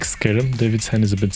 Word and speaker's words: Sequeira: On my turn, I play the Exotic Orchard, that's how you pronounce it, Sequeira, and cast a Deathrite Shaman before passing.